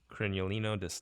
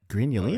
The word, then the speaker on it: Grignolino: Am I pronouncing this right? La Miraya Yeah. Crinolino d'Asti. Grignolino.